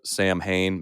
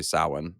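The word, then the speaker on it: Samhain: and they have to do with Salin spelled Sam Hayne many people will say sam Hayne but the pronunciation is actually sauwin or saline so it's one of those two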